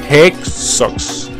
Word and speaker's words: Hexos: Hexos, algunos dicen Jexos, otros dicen Hexos. Bueno, Hexos nadie lo dice, pero es Hexos.